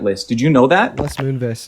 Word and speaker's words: Les Moonves: Les Moonves is, by the way, how you pronounce his name.